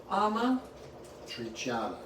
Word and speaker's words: Amatriciana: Amatriciana.